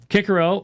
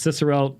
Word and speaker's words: Cicero: stoic providence was a micromanaged predetermination of every detailed cosmic event kikerel or you've heard also pronounced cicero there's different ways of pronouncing latin achieved compatibilism by limiting